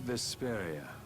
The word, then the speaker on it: Vesperia: the night sky the brightest star cool brave vesperia hmm I like it let's stick with that